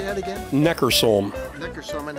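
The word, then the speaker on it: Neckarsulm: Neckersulm.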